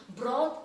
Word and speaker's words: broth: they are saying broth the pronunciation of the word broth is quite different from the b r o t h in brother right the spelling of brother is b-r-o-t-h-e-r so it is not brother right children otherwise if you pluck the b-r-o-t-h and place it separately it is broth so the same group